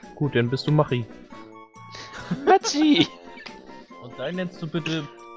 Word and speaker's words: Machi: Dann mach M-A-C-H-I und nenn es ab und sprich es dann aus wie Machi. M-A-C-H-I? Ja. Okay, gut, dann bist du Machi. Machi!